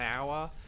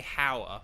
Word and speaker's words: hour: French because the word hour has like a silent h you know an hour uh but it's like you know we don't say how we say our so um but yes